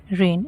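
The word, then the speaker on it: reign: रेन बारिश आर ई आई जी एन रेन। इसे भी हम रेन बोलेंगे। यहां पर जी साइलेंट है।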